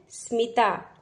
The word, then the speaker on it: स्मिता: तो स्मिता की आवाज आप कैसे निकालेंगे? स्म, क्योंकि आधा अक्षर है स, तो आधे अक्षर का उच्चारण कैसा होता है? छोटा, स्म।